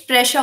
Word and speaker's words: spreche: इश स्प्रेशा होता है, इश स्प्रेशा।